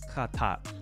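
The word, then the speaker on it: חַטָּאת: Look at khatat. Khatat. This is the word for sin. So the aleph has no vowel underneath it, so it quiesces and attaches to the final consonant. It's still not pronounced, but in terms of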